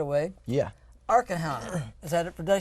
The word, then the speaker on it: Arkham: Arkham. Is that it? Did I say this right? It's pronounced Arkham.